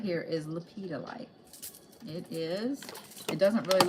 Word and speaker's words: lepidolite: Lepidolite, lepidolite. I'm never going to say it right. I always want to say pediolite.